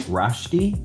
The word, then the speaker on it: Rushti: name I think is Rushti. Did I say it wrong? That's close enough. It's Rushti. It's It's Rushti, but